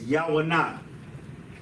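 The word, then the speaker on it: יונה: So Yawanah, Yah, Wa, Na.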